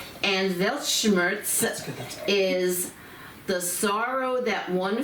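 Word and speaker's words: Weltschmerz: spell it is it it's pronounced with a V because this German is derived from German okay but it's w e l t C uh s c h m e r z velt Schurz and velt Schurz is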